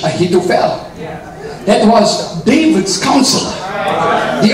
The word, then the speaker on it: Ahithophel: You see, Ahithophel. I don't know if I'm pronouncing it right. That's how we call it in British English. Ahithophel.